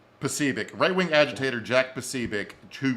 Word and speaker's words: Posobiec: Posobiec.